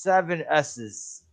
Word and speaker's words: Sssssss: It's pronounced 7 S's.